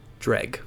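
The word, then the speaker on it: Dreugh: That's apparently how it's pronounced. Dreg.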